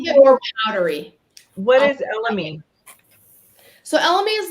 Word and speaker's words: elemi: How do we pronounce that? It's Elemi.